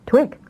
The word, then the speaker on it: Twick: Only she saw 2IC and pronounced it Twick."